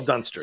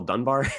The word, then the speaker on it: Dunster: dunster excuse me um did I say Phil Dunbar yeah yeah I just wanted to let you finish your point before I corrected you yeah it's the wrong last syllable but it's a really important syllable don't come back I